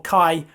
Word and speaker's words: chi: X and this is otherwise known as Chi or Kai as it's pronounced in English so we go back